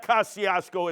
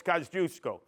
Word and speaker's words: Kosciuszko: If any of you are Polish, you know how to pronounce it right. The rest of you are Gavons, even with your education, and you go Kosciuszko Bridge. It's not Kosciuszko, it's Kosciuszko. And we saw Bunt, B-U-N-T.